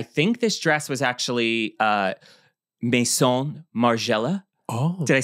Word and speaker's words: Maison Margiela: So we have, I think this dress was actually Maison Margiela.